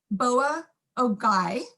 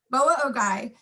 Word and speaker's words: Boa Ogoi: On January 29th, 1863, at the Northwestern Shoshone village, Boa Ogoi, had to practice that one to make sure I had that right pronunciation, thank you. Boa Ogoi, Colonel Patrick Edward Connor led the 3rd Regiment